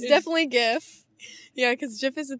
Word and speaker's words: GIF: or jif gif good day sir darth vader pronounce it gif or jiff gif thank you sir hello is it gif or jiff it's definitely gif yeah cause jeff is a peanut butter yeah